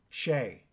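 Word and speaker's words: Shea: Alcatrazz was formed in 1983 by Graham Bonnet, Jimmy Waldo, and Gary Shee. Is it Gary Shee? Pronounced Shee? Shay. Good Irish.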